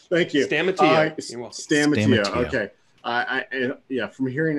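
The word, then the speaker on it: Stamatiou: Paul, which I will not even attempt to pronounce his last name. Stamatio. Thank you. Stamatio.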